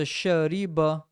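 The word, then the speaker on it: شرب: here this right and don't stretch anything right it's a ba so shariba shariba and it's not like that would be wrong right it says it's a shariba now it's very important to know that right because if you start stretching it you'll actually get the wrong sound and that's not this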